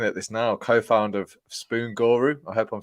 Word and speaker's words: Spoon Guru: Yes, Spoon Guru. That's actually how it's pronounced.